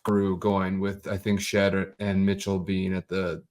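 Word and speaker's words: Shead: Jamal shed shed shed I think it's pronounced shed um and he was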